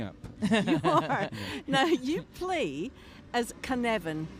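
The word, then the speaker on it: Cynefin: now you play as can evan am i announcing that properly you're pronouncing it perfectly excellent that's what i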